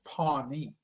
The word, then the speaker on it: Pawnee: When she took me there, it's Pawnee, P-A-W. Oh, But in Louisiana, that's pronounced Pony.